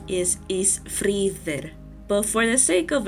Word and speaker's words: Ísfríðr: The Eth is pronounced like the TH as we know it, but with a bit of a buzz.